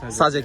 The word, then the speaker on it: সাজেক: Okay, अच्छा, let's, hi people out there, we are in Sajik. Is it correct pronunciation? Yes, Sajik, yes, okay.